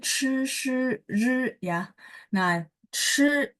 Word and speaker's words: 吃: Nah, chi ini harus ada angin, terus lidahnya diangkat ya.